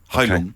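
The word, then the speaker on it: Heilung: pagan metal outfit and hon Hong Hong okay Hong it's spelled h e i l u n g Hong means healing and uh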